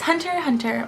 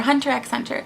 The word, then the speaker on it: Hunter x Hunter: It is Hunter x Hunter, or Hunter x Hunter. You're not supposed to pronounce the X, but I like the X.